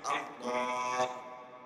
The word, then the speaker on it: আল্লাহ: আল্লাহ শেষে একটা ছোট হা আছে আল্লাহ এই যে এই এটা উচ্চারণ হইতে আপনি সুবহানাল্লাহ সুবহানাল্লাহ সুবহানাল্লাহ কি হাত উচ্চারণ আল্লাহ এটা হা আছে না এটা উচ্চারণ যদি না হয় আল্লাহ উচ্চারণ তো হবে কিসের আপনাদের কে বলছে যে